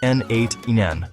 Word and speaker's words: n8n: First off, it's pronounced N8.